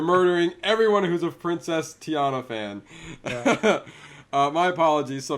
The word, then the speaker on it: Tiana: I believe that's where Princess Tatiana was. And so now Snow White is going to be over there now. So. I think it's Princess Tiana. Is it Tiana? Am I saying it wrong this whole time?